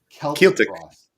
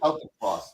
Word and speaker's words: Celtic Frost: Celtic Frost. Celtic. But I saw them back in the day, and they said Celtic Frost.